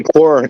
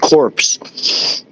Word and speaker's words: corpse: It didn't say core. It said corpse. Did it? You see that? It's C O R P S. Corpse, but at the bottom it said it I Yeah, he pronounced it cor but it said corpse with great precision.